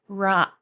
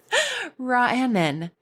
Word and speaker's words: Raanan: Every time I look at it, I want to say Sarah Raanan, but she told me how to pronounce it, and it is Raanan. Raanan.